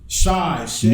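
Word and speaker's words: Shai: Wait, how did you pronounce his name? Shay.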